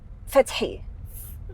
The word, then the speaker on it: Fateh: Yeah, so it's actually Fateh, Fatih? but no, Fateh.